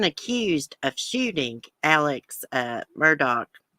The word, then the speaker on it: Murdaugh: of shooting alex at murdoch i can't believe that that name's pronounced that way it sounds like murdoch but i reckon it's murdoch he's been arrested again